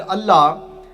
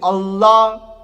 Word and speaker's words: Allah: So you twist your tongue when you say the la.